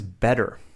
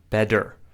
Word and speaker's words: better: I pronounce it, Americans pronounce it like better. Better. So we're pronouncing that t sound like a d. But in the UK, they would say better. So you can see they're pronouncing the t like a t, t. And they're actually not pronouncing the r in the same way we do in American English.